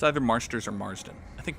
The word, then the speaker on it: Marsters: you say his name it's either marsters or marsden i think marsters james marsters just nailed the